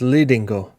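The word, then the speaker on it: Lidingö: You guys can't hear this pronunciation. Oh, so it's Lidingo.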